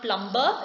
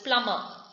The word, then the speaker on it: plumber: foreign few words with silent b thumb doubt plumber it's not plumber it is plumber silent k knock now